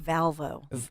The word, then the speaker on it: Volvo: It's more like Valvo. Valvo. Like Valvo. Well, all I know, Dawn, is that we are live from the Cherry Hill Volvo studios.